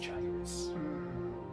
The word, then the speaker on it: Jairus: out as well um it's pronounced gyrus gurk asks if